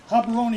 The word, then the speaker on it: Gaborone: Living in Gaborone is the pronunciation of the capital.